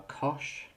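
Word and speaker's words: cosh: cosine s and tangent um but these are Kosh cinch and tanch um so just as a quick pronunciation Kos seems fairly obvious the sign with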